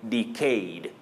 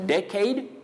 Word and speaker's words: decade: Now, Patrick Mwangi Jr., you say decade, but remember you can also say decade. So two acceptable or alternative pronunciations for that word. Decade or decade. Both are acceptable.